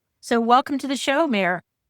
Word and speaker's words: Meir: And today I'm very happy to have and I'm going to get pronounced this wrong. Is it Mayor Mayor Mayor?